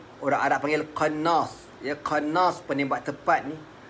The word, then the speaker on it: qannas: Tengah dalam keadaan kelang kabut tu, bukan qarnas, qannas, ya, qaf nun alif sad. Kalau ejaan Rumi, q a n n a s, qannas.